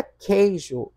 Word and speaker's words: queijo: Na palavra queijo, o U não é pronunciado.